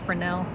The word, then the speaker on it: Fresnel: tree he did earlier today it's called a frel lens spelled Fresno but it was a french guy so it's pronounced frel you all right oh did that just fly